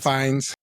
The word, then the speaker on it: Fiennes: Ralph Ralph Fiennes. Fiennes. Ralph Fiennes, by far, by far.